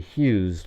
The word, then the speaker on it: Hughes: And then phonetically, Hughes, like if you didn't know how to spell it, you'd probably go Huze, right?